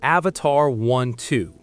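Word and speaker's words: Avatr 12: Coming in at number four is the Avatar 12. And yes, you heard me right. is pronounced Avatar12. But the name isn't the weird part.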